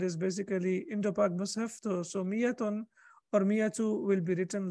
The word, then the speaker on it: مئة: This ألف is extra ألف. It is written because it's the Arabic language. It's written over here, but it is not pronounced.